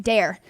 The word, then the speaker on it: Daire: spelled was d-o-h-e-r I believe yes d-o-h-e-r still pronounced dare really it was crazy uh it's actually I